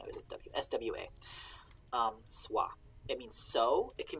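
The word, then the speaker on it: swā: use w but that's that's the sort of pronunciation of it is w-s-w-a um sua it means so it can mean as or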